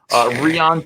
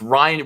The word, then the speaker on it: Rian: Rion Johnson. No, it's Ryan.